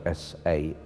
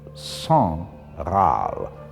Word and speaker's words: Sangraal: Its first reference is one simple word, Sangral, which is spelled S-A-N-G-R-A-A-L, Sangral. I wondered if we perhaps divided it in the wrong place. It's not San Graal, but Sangral, and that now means royal blood.